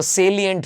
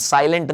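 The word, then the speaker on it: salient: Are some of द सेलिएंट feature. दोस्तों ये word बहुत कॉमनली गलत यूज लेते हैं, सेलिएंट, साइलेंट नहीं है ये, सेलिएंट यानी महत्वपूर्ण, महत्वपूर्ण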